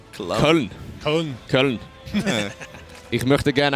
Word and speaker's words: Köln: You pronounce that like an American. Cologne? Köln.